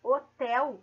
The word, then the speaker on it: hotel: bom então fica acontece eu tenho cinco letras na palavra hotel e tenho apenas quatro fonemas porque eu não pronuncio a letra h ela não eu não